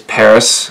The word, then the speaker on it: Pvris: introduced myself through them the band is Paris spelled PV are is because the V is a Greek letter for you so they're still saying Paris so pretty clever they're